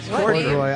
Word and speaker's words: Corddry: Corddry.